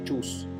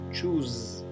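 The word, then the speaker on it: choose: experimentar en el mundo fíjense que chus lo pronunció con la s zumbada no es chus es chus bien así que traten de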